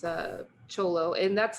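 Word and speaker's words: Thyolo: trips people out because they they call it fiolo it's it's spelt t-h-y-o-l-o theolo is what it looks like but uh in in the the local language there it's uh cholo and that's like the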